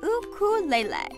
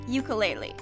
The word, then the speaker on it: ukulele: The Hawaiian style ukulele, the jumping flea, is pronounced in Hawaii as ukulele, as opposed to the more popular form ukulele.